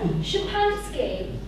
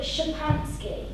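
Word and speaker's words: Szczepansky: Oh no, Shapansky. SZEPANSKY, I think. And you call it Shapansky.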